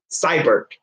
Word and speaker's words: Seibert: Seibert.